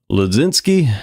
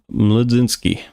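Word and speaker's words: Mlodzinski: Carmen Ledzinski. I imagine you don't pronounce this M.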